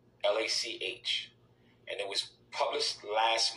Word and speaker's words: Lach: Now, this article was written by this creep called Eric Lach, Lach, and it was published last month.